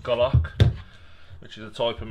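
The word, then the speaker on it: golok: is a british army i think it's pronounced golock which is a type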